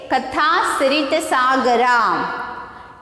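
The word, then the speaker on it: Kathasaritsagara: Kathasrit Sagara. How to pronounce this? Kathasrit Sagara.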